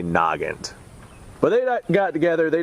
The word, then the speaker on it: Nagant: Nagant Nagant that's how people want me to pronounce it Nagant I will try that I'm I'm used to saying nant I apologize if I say that I'm going to try and say Noggin but they got together they designed this rle